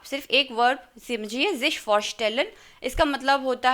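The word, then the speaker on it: vorstellen: हैं जिश फॉरस्टेलन, जिश फॉरस्टेलन यानी कि इंट्रोड्यूस करना। ये वर्ब मैं आपको यहाँ पे लिख देती हूँ, फॉरस्टेलन, VOR, जब मैं इसको प्रोनाउंस करूँ तो हो गया FAORSTALLAN।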